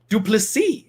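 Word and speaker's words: Du Plessis: giles taken on driscus duplici is actually the way that you pronounce that i know it looks like duplicitous and that's a much more fun way to say it i feel like but duplicity is the right way to go at this one uh duplicity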